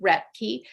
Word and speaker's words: Roethke: it differently from how he did um he pronounced it Rey and I have myself a name that has